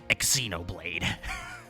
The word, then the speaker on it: Xenoblade: Xenoblade how do you should I pronounce the X in in Xenoblade you just pronounce it like a z I think yeah Xenoblade I mean I I